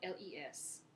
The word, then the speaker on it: les: If there's more than one thing, if it's plural, you're going to use les, spelled L-E-S, pronounced les.